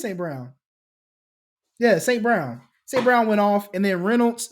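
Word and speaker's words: St. Brown: right name what's his name oh yeah it's St Brown it is St Brown yeah St Brown St Brown went off and then Reynolds is another guy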